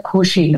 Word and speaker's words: Cushing: wenn ich Cushing sage, die medizinischen Erstbeschreiber dieser Erkrankung leben zwar in Amerika, haben aber eine deutsche Abstammung und möchten der Name Cushing ausgesprochen. Okay, haben wir wieder was gelernt. Es wird zwar Englisch geschrieben und mir ist das auch völlig wurscht, aber ich bin gehalten, Cushing zu sagen.